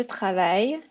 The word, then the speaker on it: travaille: C'est je travaille. Et on dit travail. C'est I-L-L, mais c'est travail.